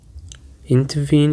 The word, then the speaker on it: intervene: It actually contains three syllables and the stress is on the last syllable.